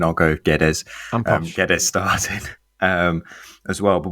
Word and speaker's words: Guedes: obviously, as you mentioned, Rodrigo Gomez started and Gedge, or you always do the proper pronunciation, I'll go Guedes.